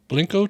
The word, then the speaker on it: Blanco: real is in Blanco blinko Texas blinko Texas it spelled like Blanco but they say blanco blco Real L is